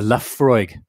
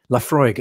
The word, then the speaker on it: Laphroaig: revolution watch clip um the ph is pronounced with an f uh the laphroaig laphroaig ah got it thank